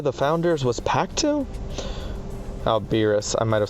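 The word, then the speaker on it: Alberius: Isn't that one of the 6 great worms that Alberia the Founders was packed to? Alberis. I might have said that name wrong. I might have read it as Albira.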